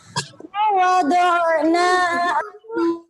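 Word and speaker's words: وَضَعْنَا: Di surat Al-Insyirah ayat 2, nanya itu hanya satu ayunan. Jadi jangan panjang. Biasanya ada yang bacanya panjang sampai 2 ayunan. Untuk ayat kedua di Al-Insyirah itu cuma 1 ayunan.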